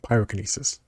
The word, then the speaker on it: pyrokinesis: Pyrokinesis. I have to say telekinesis to remember how to say the kinesis part.